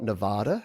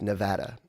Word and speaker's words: Nevada: I learnt this week that it's not Nevada, it's Nevada. Is that right, John? You can confirm that for me. I've always said Nevada, but apparently the correct pronunciation of the state that Las Vegas is in is Nevada, not Nevada.